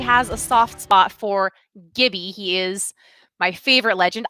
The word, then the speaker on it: Gibby: posed to you was now is a Gibby or jibby because English is really tough language right and it is a lot of exceptions a lot of rules and names and who knows but apex tracker our apex underscore tracker has given me the definitive answer says hi no argument here it's Gibby not Jimmy if you pronounce his